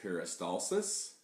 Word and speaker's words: peristalsis: with digestion is a world where it is pronounced peristalsis peristalsis is a lot of the organs and digestive